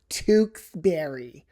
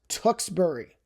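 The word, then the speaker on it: Tewksbury: A very common misprononunciation of this would be Tukberry. It's Tukbury. Tukbury. Trust me on this one.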